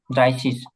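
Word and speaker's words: dreißig: হ্যাঁ, সেম ভাবে এই যে দ্রাই, এই যে শীষ, ড্রাই শীষ।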